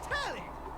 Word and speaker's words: Telly: The name's Telly. Rhymes with Nelly. Like, whoa, Nelly!